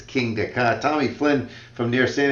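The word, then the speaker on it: Kingda: say your name there your table name it's King DEA King DEA that is the tallest fastest roller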